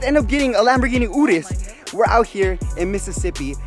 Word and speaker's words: Urus: It's pronounced Urus.